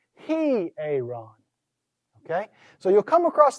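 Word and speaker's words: ἱερόν: It's not simply ieron. Yeah, with the rough breather, it's a heh sound. He-aaron.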